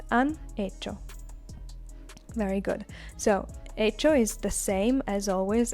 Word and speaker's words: hecho: It is not hacido, as you would imagine from a second conjugation verb. It is hecho. Again, you see this CH, which is pronounced ch.